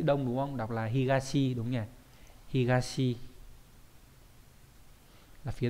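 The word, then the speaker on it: 東: đ đặc biệt là azuma đấy azuma có hai cách đọc là higashi với lại azuma trong đó là cách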